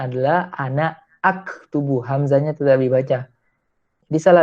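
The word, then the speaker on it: أنا أكتب: aktubu itu dibacanya adalah ana aktubu. Hamzahnya tetap dibaca. Jadi salah bila kita baca ana aktubu itu menjadi anaktub. Salah itu. Karena hamzah di situ berstatus qat'i.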